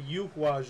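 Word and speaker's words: Eihwaz: And I call it the Yuhwaz rune because we don't have the letter. We don't use that letter in even in most modern Germanic languages. We don't use that letter anymore. But the tree that it's connected to, it's named after the yew tree, which is pronounced yew.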